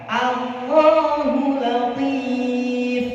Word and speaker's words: Allahu latif: A-nya jangan ikut-ikut tafkhim. A tetap A, coba. A. Jadi yang tafkhim hanya Allah-nya saja. Berarti bacanya begini. Allahu latif. Ya, kalau Allahu latif. Allah, oh bukan o tapi a. Allahu latif. Coba. Allahu latif. Nah, yang benar itu seperti itu. Jadi a tetap a, tidak menjadi o.